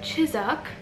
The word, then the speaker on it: Chiswick: want to butcher it it's Chiswick for me and it's like chizuk for British Brits for the Brits so that's what we're